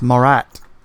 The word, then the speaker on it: Marat: Is it a hard A, or how does he actually say his name? It's Marat, like Borat.